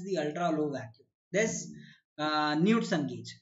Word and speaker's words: Knudsen: Knudsen or Knudsen gauge, whatever you to pronounce it, right? The better pronunciation is Knudsen gauge.